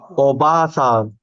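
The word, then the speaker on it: おばあさん: Oba-san. Very good. So you have a stretch, elongation here. Oba-san. So Oba-san, Oba-san. So if you stretch, it becomes grandmother. Oba-san.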